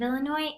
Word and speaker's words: Illinois: of the state of Illinois and how it's spelled it's such a funny way of spelling something because there's a silent S on the end Illinois and then